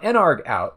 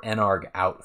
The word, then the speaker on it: nargout: then we say if n ARG out equals equals one now an ARG out at least that's how I pronounce it I guess you could say narg out it's short for I